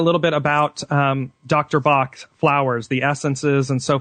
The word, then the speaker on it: Bach: named Edwin be in in England we pronounce it Bach Edwin be in England